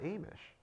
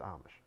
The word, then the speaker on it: Amish: Everybody calls it something different. it's spelled Amish, but it's Amish.